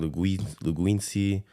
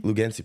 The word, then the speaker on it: Lugensi: years, I just noticed people were saying Luguensi. They're just mispronouncing it. Making fun of you on purpose, bro? No, they didn't know how to say it. Lugensi? Lugensi, perfect. So like you literally sound it out, and it's the way it sounds.